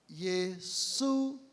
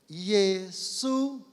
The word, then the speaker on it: Yesu: Então, Jesus, são 2 sílabas, Yesu. Então, eu vou falar e vocês repitam, por favor. Yesu. Yesu.